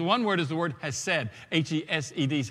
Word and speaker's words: hesed: But the word, two words used in that passage in Exodus is the one word is the word hesed. H-E-S-E-D is how we would spell it in the English language.